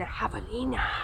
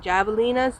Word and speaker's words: javelina: and have a Nena which we had been calling javelinas the whole time and then a viewer of the channel actually you know terrific them you're not allowing it correctly you know that's the Mexican pronunciation or the Spanish I'm sorry pronunciation javelina we saw stood that